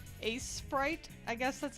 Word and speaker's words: Aseprite: Aseprite. Yeah, on desktop you should check out Sprite. Aseprite. Yeah, it just like that, except replace the C with an S. Ase.